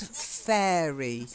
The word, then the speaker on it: fairy: the next one is sand fairy like air the air that we breathe fairy try it Sun fairy